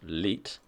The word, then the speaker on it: 1337: co-founder and CEO of 1337 pronounced leit right I would never have guessed that in a million years but okay is a